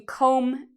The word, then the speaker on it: comb: Okay, so comb is like you comb your hair in the morning. Do you hear the B sound? Comb. No, there's no B sound because again, we have this M. So that means no B pronunciation.